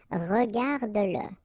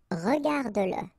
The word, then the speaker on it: regarde-le: Remember that if you've got, in some situations, the pronoun le, and if it comes after your verb, like in that case, then you will have to pronounce it.